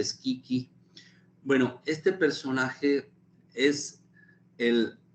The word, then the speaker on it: Schicchi: En esta ópera que se llama Gianni Schicchi, se escribe con CHI, ¿no? Y se pronuncia Schicchi.